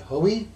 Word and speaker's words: Hoey: Miss solo by Fred Hoy h o e y I believe that's the way it's pronounced uh you want to